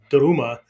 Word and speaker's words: daruma: pictures of these little doruma dolls right daruma is the japanese one of the japanese pronunciations for the word dharma which means truth okay